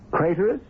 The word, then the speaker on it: Craterus: Craterus, which rhymes with traitorous.